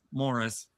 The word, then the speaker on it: Maurice: And as he reminds Uncle Morris, it's spelled Maurice, but it's Morris.